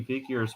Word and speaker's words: Vigier: wanted it's to a French work with him pronunciation, Vigier. because I was corrected. So that it's like Vigier.